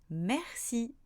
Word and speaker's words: merci: D'ailleurs, il y a un autre mot que vous connaissez tous, merci. Lui aussi se prononce est car il est devant un R.